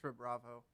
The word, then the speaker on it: SHRUBRAVO: How do you pronounce the star? Asterix. Okay, so SHRUBRAVO asterisk. Yeah, but it's just SHRUBRAVO.